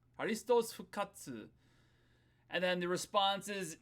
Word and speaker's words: ハリストス復活: That first one, this is how you say Christ is risen. Harisutosu fukatsu fukatsu You can add an u there. You don't need it. Fukatsu by itself is fine.